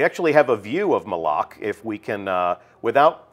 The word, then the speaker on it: Malok: absence has left uh and that is malok malok right official pronunciation confirmed so Mal if you hear anybody saying Mao send them right here to the archive of this stream our design leaders told us it's malok we actually have a